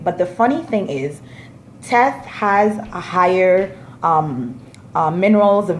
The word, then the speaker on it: teff: about Anjana injera is Tess made out of tests and tell our is this beautiful ancient grain